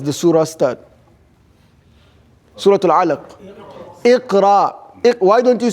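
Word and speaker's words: اقرأ: Iqra. Why don't you say Akra?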